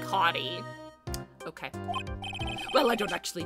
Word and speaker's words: Hotti: Oh, his name is said like Hottie.